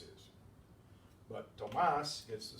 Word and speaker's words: Tomás: But Tomas gets the stress there, and in writing we have to show that with an accent mark because it varies from this rule.